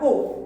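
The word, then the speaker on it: aux: Remember I've told you before, that when you see A and U joined together, it is pronounced O. So, the X is silent. So we have O.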